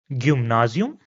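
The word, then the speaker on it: Gymnasium: Another example with obsilon is gum nazium. So again if I replace the obsilon with the y and u then it will be easier for you to pronounce as gum nazium.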